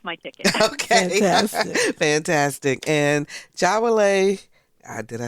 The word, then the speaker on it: Jawole: And Jawole, did I say it right?